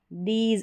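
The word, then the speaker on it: these: जैसे ईव, दीज, अब इसको इव या दिस नहीं बोलेंगे, ईव खींच कर बोलना है, लंबा उच्चारण है, दीज।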